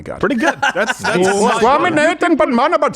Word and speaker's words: Padmanabhan: That's Swaminathan Padmanabhan.